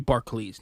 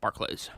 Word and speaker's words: Barclays: It's actually Barclays, not Barclays.